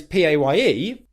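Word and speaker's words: PAYE: And when we put it back into the phrase P.A.Y.E, P.A.Y.E, P.A.Y.E, P.A.Y.E, you're basically saying the letter P, the A diphthong, the word Y, and then the long vowel E.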